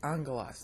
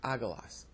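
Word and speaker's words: ἄγγελος: these are two G's they look like little y's but you pronounce them like Ng so you say Angelas not aalas all right that's the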